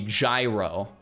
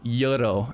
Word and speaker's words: gyro: I think the the pronunciation is like yuro or whatever, but like I I